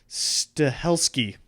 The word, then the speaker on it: Stahelski: this movie and who is that director Chad stahelski yeah that's the right name but uh as